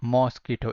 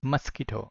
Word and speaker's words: mosquito: mosquito bites say ski pronunciation is not mosquito it's mosquito okay so mosquito bites